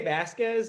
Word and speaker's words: Vazquez: I say Vasquez, but everyone says it differently, even within the Hispanic community.